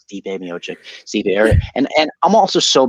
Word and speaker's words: Stipe Miocic: I was like, Stipe Miocic, Stipe. And I'm also so bad with name pronunciation that like I'll say stuff wrong that